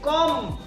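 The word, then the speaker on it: comb: কম কম কম কিন্তু কম লাস্টে যেটা আমি বি কইছি হেই বি আমি নক এই এম এর পিছনে জিতিয়া বি থাকিব হেই বি টু সাইলেন্ট থাকিবো আখরটু ঠিকই থাকিব কিন্তু এই আক্ষরের সাউন্ড ন হবো বুঝি পাইছনে তোমার লগে যেটিয় এম আক্ষরের পিছত বি পাবা বি আ অক্ষরটু থাকিব ঠিকই কিন্তু বির সাউন্ড ন করিবা গতিকে এটু সি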